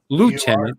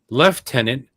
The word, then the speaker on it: lieutenant: word logically is pronounced lieutenant in the USA but in English the we speak English but in English it is pronounced left tenant comma possibly derived from